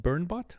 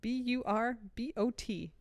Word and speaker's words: burbot: Department of Natural Resources said the fish is called burnbot it's b-u-r-b-o-t burbot I well I looked it up like turbot so I looked up literally before we started recording Vermont pronunciation here's what it says b-u-r b-a-a-t is how it's written out phonetically burbot well okay robot but burbot it's a fish it's